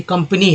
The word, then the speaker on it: company: जैसे कंपनी है, कंपनी में का उच्चारण क्या हो रहा है, तो अ के रूप में हो रहा है।